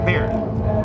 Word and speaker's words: Baird: Today I have Baird and Homemade Sin. Yes. And how do I pronounce? Do I pronounce it right? Dan. Yeah. Baird. Yeah. Baird.